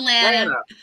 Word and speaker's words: Lana: It's Lana. Lana. Okay. Sorry. You know, they wrote banana next to my name on John Legend's paper. I found out so he would say it right.